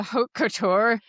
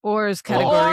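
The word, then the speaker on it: hors catégorie: Did you just call it a haute couture Yeah, tell me that I I haute couture, how do you say it? Ors category. Ors Ors category.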